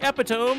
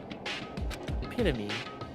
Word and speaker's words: epitome: Meanwhile, I looked at that so long, and I was like, ain't no way he pronounced it like that. It's just been memed so much that now it's in my head that that's actually how it's pronounced, but it is epitome.